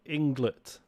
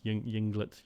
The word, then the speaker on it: Ynglet: gonna pronounce it inglet spelt with a y y n g l e t england yinglet junglitz dunno um this is game